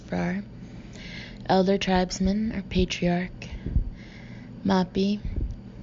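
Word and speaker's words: Fraa: Fra, F-R-A-A, pronounced Frar.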